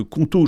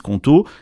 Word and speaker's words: Qonto: Justement, c'est là que Conto change la donne, parce qu'ils ont non seulement